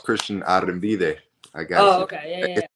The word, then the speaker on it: Arrambide: the first current NFL draft player Mr Christian Christian how you doing tonight I'm good I'm good I'm blessed uh it's pronounced Christian arid I got you okay it's it's it's always